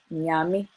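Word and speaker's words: Nyame: And again, you also hear other sounds like the NY, Nyami, which is God, means God in Twi. And it's not pronounced in yam, which you see like it's spelled, or in yam, it's in yami.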